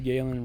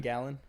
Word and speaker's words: Galen: the american side mr galen rupp won gallon gallon gallon cars can't get past calling him gallon because of the way it's spelled like g-a-l-e-n gallon gallon gate yeah